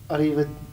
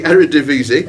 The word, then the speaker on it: Eredivisie: I can't pronounce it. Arriva. Yeah, I'm going to give you that because you were as close as Lewis were. Oh. It's the Eredivisie.